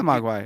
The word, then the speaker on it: Mogwai: might butcher this but i think it's pronounced mog y yeah mogwai it's like from uh gremlins yeah so uh they're